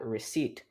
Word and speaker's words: receipt: the c is silent next let's look at receipt like i think you can tell what i'm talking about there's absolutely no reason for the p to be there it's just one of